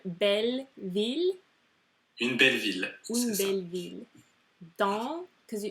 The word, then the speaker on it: dans: Dans, because do you pronounce the S? No.